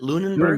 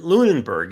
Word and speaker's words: Lunenburg: is that how you pronounce it Lunenburg Lunberg? Yep. Alright, and Lunenburg is well